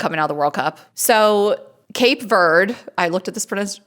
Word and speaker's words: Cape Verde: So Cape Verde, I looked at this pron pronunciation, too. So they say Capu Vera, but we say Cape Verde.